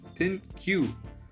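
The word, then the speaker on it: ThinQ: literally the alphabet Q it's not even th it's thin Q so it's basically the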